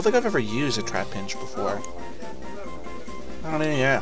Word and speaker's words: Trapinch: Trapnitch. Trapnitch? Trap... Oh, Trap Pinch. I've been saying that wrong all this time.